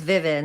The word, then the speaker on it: Vivin: It's Vivin, right? You got it right, Vivin.